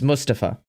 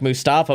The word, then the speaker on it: Mustafa: and he was like my name is mustapha pronounce it learn how to say my name or don't keep it